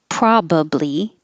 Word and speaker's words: probably: to say gag demagogue probably or probably you can have three syllables probably or two syllables probably i probably say probably i if i have a chance to make it shorter i definitely will go with the shorter one probably regardless regardless juneteenth